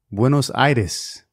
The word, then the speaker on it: Buenos Aires: today's show winnow surveys in Spanish it is pronounced window situs Argentina so I flew to bueno situs on a Friday night and I returned on